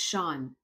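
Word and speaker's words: Sian: have never read before Sean Gilbert now I had to look up how to pronounce this name because it's spelled s-i-a-n it's pronounced Sean so the book is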